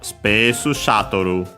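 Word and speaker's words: スペースシャトル: like in this case, it becomes Space Shuttle. So yeah, we keep the accent on the sha.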